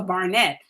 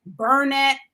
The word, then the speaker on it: Barnett: So I never understood how people could come to me and say Burnett, Bennett, or anything like that, because if you phonetically pronounce my name, it's easy.